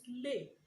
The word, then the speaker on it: les: then the last one the fourth one is lay l-e-s lip is used before